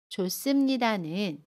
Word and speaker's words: 좋습니다: 받침이 히읗인 동사 형용사 뒤에 습니다가 오면 받침 히읗은 발음하지 않고요. 습니다는 씁니다로 발음해요. 그래서 좋습니다는 좋습니다 라고 발음합니다.